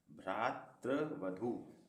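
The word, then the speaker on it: भ्रातृवधू: एक बार फिर से मेरा उच्चारण सुनिए भ्रात वधु एक र का उरण यहां आएगा भ्रा और फिर त बोलेंगे उसके बाद भी आगा भ्रात वधु अब यदि इसका आप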